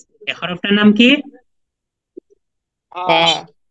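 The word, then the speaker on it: كاف: তারপরের হরফটা হচ্ছে ফা ফা এই হরফটার নাম কি ফা ফা ফা আচ্ছা মাশাল্লাহ তারপরের হরফটা হচ্ছে কফ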